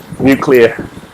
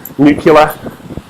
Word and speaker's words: nuclear: the same way as people who pronounced nuclear nucular and that is wildly unacceptable and needs to stop ibuprofen people and this